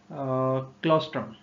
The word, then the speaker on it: Claustrum: और तीसरी है स्कैफियम, SCAPHIUM, और चौथी है क्लॉस्ट्रम, CLAUSTRUM।